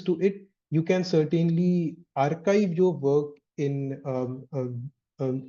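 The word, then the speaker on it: arXiv: So um so this is pronounced pronounced as archive.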